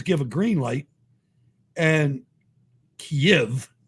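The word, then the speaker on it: Kyiv: a green light and kiev that's how ukrainian say if not kiev right it's two syllables right yep if you're russian but if you're ukrainian kiev so it'll be gone it'll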